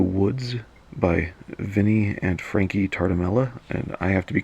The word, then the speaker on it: Tartamella: by Vinny and Frankie tar Tamela and I have to be careful I occasionally do mispronounce their name as tar D'Mello no it's Charter Mela so if I mispronounce